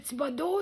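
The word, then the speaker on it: Thibodeau: mon ma épinglée de ma page Facebook Tibodo. C'est mon nom. Tibodo s'écrit th au d e a u.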